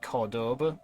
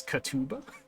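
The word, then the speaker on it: Córdoba: uh think it's pronounced Cordova but it's Sprout like Cordoba in English and here it's katuba that also might be a v instead of a b I'm not sure I just I heard my lecturer one time pronounce it as Cordova so I just copied him this is also 51.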